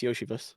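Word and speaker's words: Iosivas: Andre yosias Yoshi ah is that how you say his name yeah it's yosias princet Princeton mmud diabate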